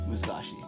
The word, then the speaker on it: Musashi: Oh, in storyline, he lived in like the 1500s because how is it pronounced? Musashi.